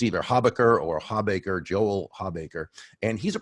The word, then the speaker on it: Hawbaker: One's from Joel Habaker. Now, I don't know if I'm pronouncing Joel's last name correctly. It's spelled Hawbaker. I always thought it was Habaker, but I've never actually asked him.